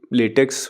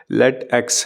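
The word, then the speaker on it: LaTeX: कि अगर आपको लेटेक्स, एक्चुअली लेटेक्स मैं बोल रहा हूँ लेकिन प्रोनाउंसिएशन उसका और ही कुछ है, लेट एक्स है वो।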